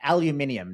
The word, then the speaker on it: aluminium: made electric vehicles and 25% on steel and aluminium note how I pronounce that correctly hoping you were going to